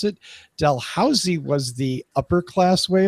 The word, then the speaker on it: Dalhousie: Oh, is how it's pronounced? Well, there is some discussion on this issue. It's Dalhousie.